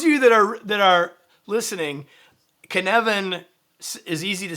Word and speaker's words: Cynefin: This is Cynefin, the Cynefin framework. Cynefin. Ah. It rhymes with Kevin.